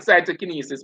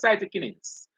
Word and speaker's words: cytokinins: cause cytokinins cyto so some person might call it cytokinesis but it's cytokinins all right and this